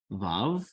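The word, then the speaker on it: ו: The next letter we have is Vav. Vav, V as in vine. Here it is, pretty simple.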